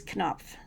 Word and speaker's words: Knopf: But it is, you do sound out the K. It is not silent. It is Knopf.